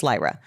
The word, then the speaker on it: Lyra: Because I have heard this name Lyra and Lyra. And she goes, it's Lyra.